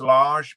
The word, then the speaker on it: Lage: is Bruno Lage, and it's pronounced Lage because I've heard Lager, all sorts, but it is Lage because he said in his press conference today.